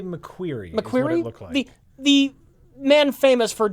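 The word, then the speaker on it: McQuarrie: How do you pronounce his name? I would say McQueer.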